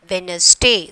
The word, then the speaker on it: Wednesday: Wednesday. So D is the silent letters.